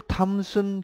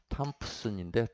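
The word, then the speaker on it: Thomson: 줄 탐슨 개수라고 있어요. 줄 탐슨 개수. 줄은 들어봤을 거고 줄과 탐슨도 아주 유명한 물리학자인데 나중에 정치도 하고 탐프슨인데 탐슨. P는 거의 묵음으로 줄 탐슨 개수.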